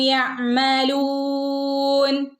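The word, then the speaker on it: يعملون: ഐനിൻ്റെ മുകളിൽ സുക്കൂനുണ്ട്. ഹാഫ് സുക്കൂനെ കൊടുക്കാൻ പാടുള്ളൂ കേട്ടോ. കാരണം കൽക്കലയുടെ ലെറ്റർ അല്ല ഐൻ. യഅമലൂൻ.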